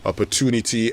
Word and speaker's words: opportunity: the American pronunciation is opportunity and the British pronunciation is opportunity. There's an introduction of a semi-vowel in there. But it's actually opportunity, just like how you'd say fortune.